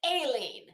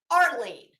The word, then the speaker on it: Aileen: I know her name is Aileen, not Arlene. Arlene on QB panel talking about how she may or may not have hit Betty.